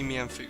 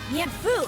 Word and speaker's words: Mienfoo: It has to be Mienfoo. That's how everyone pronounces it. That's how the anime pronounces it. A Mienfoo! Mienfoo, huh? I mean, I can't think of any other way anyone would pronounce it.